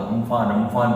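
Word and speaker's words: Amphan: अभी तूफान आ रहा था, आपने सुना होगा, अम्फान तूफान आ रहा है, अम्फान तूफान आ रहा है, हरिकेन अम्फान आ रहा है। मैंने सर्च किया, उसका प्रोनाउंसिएशन भी सीखा। वो अम्फान नहीं था, वो अम्फन था।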